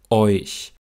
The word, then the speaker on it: euch: Euch. Auch hier sind die Lippen beim Ich-Laut noch leicht gerundet, wegen des vorangegangenen Eu-Diphthongs.